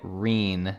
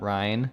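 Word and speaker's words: Ryne: Just gonna throw in her name is said like Reen, not Ryan. Reen.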